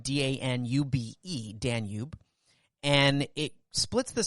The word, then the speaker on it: Danube: right there on the river danube so it's pronounced danube d-a-n-u-b-e danube and it splits the city right in